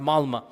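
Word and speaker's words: Malmö: Malma is it's is spelled with an O but is pronounced Malma.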